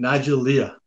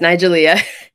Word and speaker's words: Nigelia: how are you doing i butchered your name again nigelia yes nigelia sorry nigelia where does that first